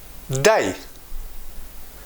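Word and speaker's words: دا: We pronounce da, D-A.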